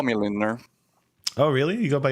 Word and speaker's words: Lindner: I say Lindner. Lindner? Lindner. Okay.